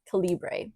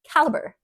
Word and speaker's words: caliber: like what 14-year-old Mimi I thought caliber was calra yes yes to be fair it was not written the same way caliber like Excalibur was WR so it didn't click in my head but apparently it's pronounced caliber not once again my ESL is coming to